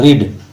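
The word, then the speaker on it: read: देखिए रीड spelling same है तीनों में, लेकिन आप जब पढ़ेंगे रीड, सेकंड फॉर्म को रेड पढ़ेंगे एंड थर्ड फॉर्म को आप रेड पढ़ेंगे।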